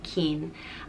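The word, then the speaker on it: Cian: all know akian and it is pronounced just keen and it is spelled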